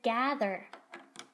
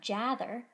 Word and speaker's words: gather: gutter here's another example this is the word gather it's not jather i know it's gather because the letter that comes after the g is not in my gg cat picture no cat ears for the g so now i know it is the hard sound or gather what if